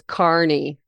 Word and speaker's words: Kearney: Carney, just saying it's Carney.